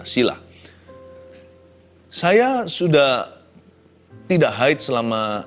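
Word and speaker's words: Cilla: Ini dari Cila, C-I-L-A ya, C-I-L-L-A, bacanya gimana? Sila.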